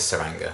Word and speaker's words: Tsuranga: I'm going with Tsuranga. I think it's a silent T.